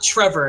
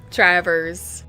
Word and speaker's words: Travers: sit on uh sorry is an awkward last name that is not Trevor and I keep wanting to say Trevor Travers Trevor's like Traverse City Trevor's how are you